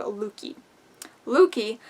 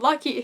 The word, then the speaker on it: Lucky: boy in town named luki luki that's no it's called lucky his name is lucky i i don't know why i pronounced it like lookie what the hell is